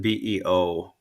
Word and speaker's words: byw: BYW means life in Welsh, and BEO means Welsh and Scots Gaelic. It means life in Scots Gaelic, and Oh. um, BYW is pronounced Beo, Mm-hmm. as is BEO, Right.